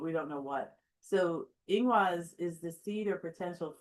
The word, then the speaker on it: Ingwaz: But we have Ingwaz. Ingwaz. The accent is always on the first syllable with the elder food art runes.